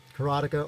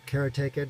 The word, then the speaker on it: Karateka: Karateka, or Karateka, depending on how you pronounce it, is a particularly good one to run on this emulator.